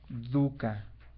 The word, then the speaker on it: dukkha: La palabra aquí enfermedad, en el discurso del Buda, se llama dukkha. Dukkha se escribe, es D de dedo, U de uva, doble K de kilo, H, A.